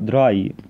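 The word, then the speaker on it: drei: طيب رقم 3 برضو اكيد انت خدت بالك ان الاي اي بيتنطق اي، يبقى دي هتتنطق دراي، لكن عكسها الاي اي بتتنطق اي، يبقى دي فير.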